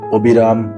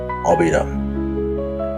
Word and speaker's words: অবিরাম: যেটির উচ্চারণ হবে অবিরাম। প্রিয় সুধী আমি গত আলোচনায় এই কোন শব্দের আদিতে অ এবং সেটি যদি নাবোধক হয় সেটি বলেছিলাম অ এর মতই উচ্চারণ হবে।